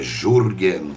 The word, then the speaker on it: Jurgen: chamado your Gena apelo é jurgen que se escreve Julian com dois Ls é j u r